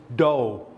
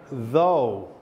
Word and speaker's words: though: saying this word again so you keep saying doh I want to hear though though can you hear